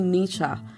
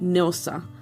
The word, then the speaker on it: Nilsa: She always called me Nisha instead of Nilsa.